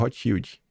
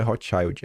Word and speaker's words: Rothschild: foi emprestado pelo Banco Rothschild. Não é Rothschild, é Rothschild que se pronuncia.